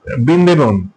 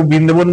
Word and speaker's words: বৃন্দাবন: তার নাম হচ্ছে বৃন্দেবন। বিবেন বলে কেউ বৃন্দেবন বলে আসলে উচ্চারণটা হচ্ছে বৃন্দাবন।